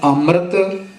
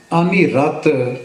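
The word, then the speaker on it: ਅੰਮ੍ਰਿਤ: ते ये बनेगा अमृत इसका उच्चारण अमृत जा अमरत करना योग नहीं है खट शास्त्र स्मृति व्यान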